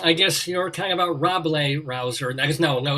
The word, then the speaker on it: Rabelais: rambo and is it roblay r-a-b-l-a ablaze um you're thinking of a french writer named rabelaise yes your no it's rob lay it's a silent s probably is it yes